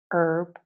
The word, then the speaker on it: herb: our honest honor air herb and herbal now with these two words urban herbal the H is only mute when we use American pronunciation in British English the